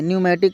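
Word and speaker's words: pneumatic: न्यूमेटिक comparator का सिद्धांत P silent है।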